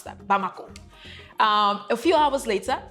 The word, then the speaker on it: Bamako: is some miles away from the capital B bamako that's how you pronounce that bamako um a few hours later president Kita which